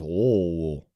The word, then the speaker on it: Louisville: You got to say it like that. It's Merlin. Just like when you go to Louisville. It's not Louisville. It's Lowell. Okay? Merlin. Lowell. That's how you say it.